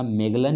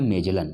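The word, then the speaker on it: Magellan: जो आपका देखा जाए तो इसका आंसर आपका हो जाएगा मेगलन या मेजलन। ये जॉ भी कहीं प्रोनाउंसिएशन होता है, कहीं गौ भी, ठीक है, तो कन्फ्यूजन नहीं होना है, मेजलन या मेगलन।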